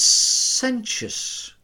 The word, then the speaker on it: sententious: It's sententious. Sententious. You got to say it right. There's two T's in there.